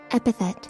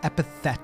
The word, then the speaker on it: epithet: Epithet. Epithet. So you do pronounce the TH.